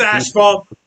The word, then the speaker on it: asphalt: asphalt it's just the way it's pronounced man there's no h in it there is an h it's just not after the f or after the b there's no f oh my god it's asphalt leave me alone no i i know